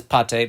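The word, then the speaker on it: Pathé: Studio Pate bought Canon and well what is pate well Pate is pron is spelled p a t h e I actually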